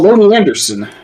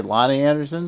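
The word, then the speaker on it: Loni Anderson: Oh, well, Lonely Anderson. Yeah. Okay. Lonnie Anderson. Yeah. And Oh, Lonnie. Okay, you pronounce fair enough.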